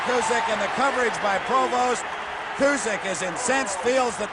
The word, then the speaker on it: Provost: And for those of you who may be wondering about the pronunciation of Ted Provost's name, it is a French name, initially from Canada. Provost, an American boy who went to Ohio State, prefers to be called that way.